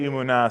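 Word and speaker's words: emunah: you have to say umuna so that it it sounds like that if you want to hear the meaning you have to say it like it's braying I sometimes think to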